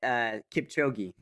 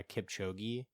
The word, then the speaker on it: Kipchoge: Oh, Kipchoge. Yeah, Kipchoge.